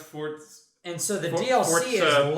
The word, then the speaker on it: Forza: Wait, it's pronounced Forza? It's pronounced Forza.